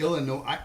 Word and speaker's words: Illinois: Like Illinois. I pronounce it Yep.